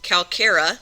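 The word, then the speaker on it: Calcarea: That sounds like a K. Calcara which are the calccarious sponges which means that they have lots of calcium in them.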